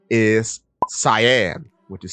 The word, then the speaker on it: Scien: This is also very interesting to me because if you pronounce it Cyan or Cyan, it sounds like the color cyan, which is C-Y-A-N.